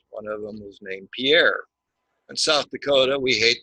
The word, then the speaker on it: Pierre: It is not pronounced Pierre.